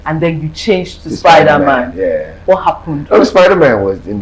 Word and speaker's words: Spydaman: So it's Spydaman, Spydaman. Spy, put your eyes on me.